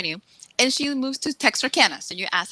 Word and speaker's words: Texarkana: things that I knew and she moves to texarkana's and you ask how to pronounce this so she moves to Texarkana which